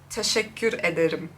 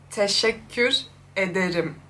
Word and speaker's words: teşekkür ederim: Teşekkür ederim. Teşekkür. Okay, Nochmal, aber ein bisschen langsamer. okay. Teşekkür ederim.